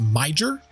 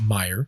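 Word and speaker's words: Meijer: um some people would say it is uh pronounced miger because it's emia m e i j e r we would call that Meer that's definitely got to be a German thing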